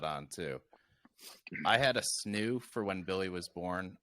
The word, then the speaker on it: Snoo: that snoo sn oh the snoo not the roo it is amazing best